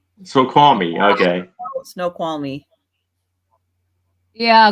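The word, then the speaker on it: Snoqualmie: scene you're looking at how how do you say that Aaron um let's see here so Squan me close very close snow qual me snow qual me okay snow qual me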